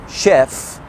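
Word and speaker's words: chef: في اكسبشنز او كلمات في الانجليش بتتنطق فيها ال سي اتش زي ال اس اتش، زي شيف شيف، شامبين، بروشور، ماشين، شالي.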